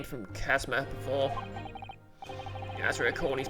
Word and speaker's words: Kazuma: Isn't a long U the oo sound? Oh yeah, short U's the sound, isn't it? Kazuma. Okay, Kazuma does sound right.